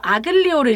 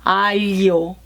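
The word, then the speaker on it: aglio: 알리오 올리오, 알리오, 아글리오를 읽으시면 안 되고요. 마늘이 알리오. 저도 잘 안 되는 발음인데 사실은 아글이 아니고 알리오, and 올리오.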